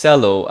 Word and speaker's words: Celo: So it's pronounced Cello.